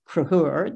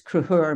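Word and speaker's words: Conchobar: And she was the enemy and former wife of Cruhur. That's how you pronounce that rather difficult looking word there. That's Cruhur Mac Nessa, who is the king of Ulster.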